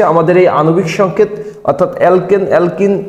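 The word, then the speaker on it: alkane: একটা জিনিস শিখবো যে অ্যালকেন এই ফরমেটে এই সূত্র মেনে চললে তাকে অ্যালকেন বলি আর অ্যালকেন যদি অ্যালকেন হয় তাইলে আমরা এন উচ্চারণ করব এটা খুবই গুরুত্বপূর্ণ যদি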